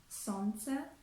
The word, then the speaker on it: солнце: Or in the word солнце, солнце, we omit the letter L.